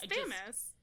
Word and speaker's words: Thames: It's Thames.